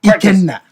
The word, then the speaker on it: Ikenna: You guys are saying it obviously the standard British way, but it's like my Nigerian Igbo, I would say please. Ikenna. Ikenna. Ikenna. Ikenna.